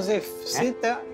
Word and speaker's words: Zew: Me llamo Zef. Me llamo Zef. Se escribe Z-E-W.